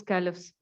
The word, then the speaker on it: caliphs: Okay, I have told a little bit history about those caliphs. You can see words meaning on the screen. Caliphs, caliphs, two syllable word, okay?